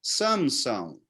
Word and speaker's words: Sansão: do clube o voiler o nome dele se escreve com m a pronúncia certa seria Sansão né então é bem aqui